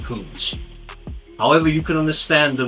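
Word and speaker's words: Kunz: You spell his surname Kuntz, and I'm pretty sure you pronounce it Kuntz.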